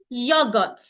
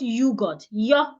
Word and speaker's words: yogurt: Say yogurt, not yogurt. Yogurt.